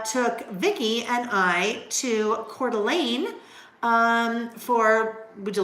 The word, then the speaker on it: Coeur d'Alene: and r n um hang on I gotta spell it c o e u r Coeur d'Alene Coeur d'Alene so Coeur d'Alene is in Idaho beautiful Lake